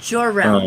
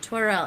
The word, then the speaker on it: Jor-El: but Jor-El. um, Zora. Yeah, Jor-El. Jor-El. That's Jor-El. right. Yeah, that makes Yeah, sense. because when I said Torel, he was like, no, like Jor.